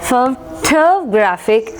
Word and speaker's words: photograph: And considering the next word, it is photograph, it is photographic grapher and it is photographic. Okay, അപ്പോൾ ഇവിടെ photograph first syllable വന്നു, ഇവിടെ photographer second syllable വന്നു, ഇവിടെ photographic third syllable.